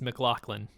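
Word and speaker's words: MacLachlan: face i just watched i just watched a youtube video on how to pronounce his name and it's mclaughlin oh nice oh yeah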